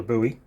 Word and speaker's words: Bowie: uh smaller than a regular buoy or Bowie depending on how you want to pronounce it um I'm not going